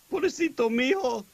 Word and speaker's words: pobrecito mijo: Pobrecito mijo.